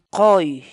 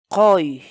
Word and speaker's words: quy: de videos en la que te enseñamos a pronunciar algunas palabras en quechua. Así que nuestra palabra del día por hoy es qoy, qoy, qoy, la palabra quechua.